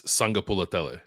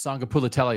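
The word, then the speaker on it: Sagapolutele: Okay, but so his second name is pronounced Kielve. Yeah, and then it's Sangapulatele. Sangapulatele. Yes, Sangapulatele is correct.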